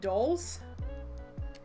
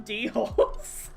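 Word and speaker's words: dhole: dogs, I think, called, Doles. And it's spelled D-H-O-L-E. And my brain, when I was recording my lines, decided to, instead of calling them Doles, I'd call them D-Holes.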